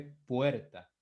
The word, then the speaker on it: puerta: Con el caso de puerta, si usted se da cuenta, la mayor fuerza de voz cae ¿dónde? En la vocal E, en la vocal abierta, puerta.